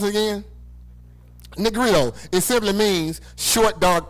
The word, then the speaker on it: Negrito: Now, what this simply means is that Negro, how you pronounce it again? Negrito.